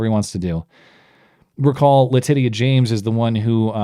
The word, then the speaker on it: Letitia: Now, recall New York Attorney General Letitia James. And yes, that is the correct pronunciation, Letitia.